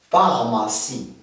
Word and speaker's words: pharmacie: exemple, comme vous voyez, lorsque P rencontre H, elle nous donne la prononciation de F. Comme vous voyez dans l'exemple, bien, le premier mot qui s'écrit avec PH, il nous donne F, pharmacie.